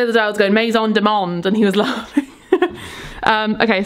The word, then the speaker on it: Maison du Monde: Is it Maison? How do you say it, Al? Maison du Monde. Why is that how I said it? Yeah, you got it right that time.